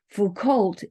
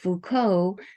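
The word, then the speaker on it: Foucault: didn't have it just by what how they pronounce certain words like if they said Fu cult instead of Fuko that was a dead giveaway that they were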